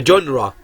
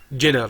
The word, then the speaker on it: genre: The genre، طبعا هي لفظة ما هي جنر مثل في بعض الناس بتلفظها خطأ جنر، لا هي genre.